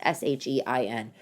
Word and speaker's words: Shein: It's not cheap like Shein, or maybe it's Shine. I don't even know how to pronounce it. It's Shein.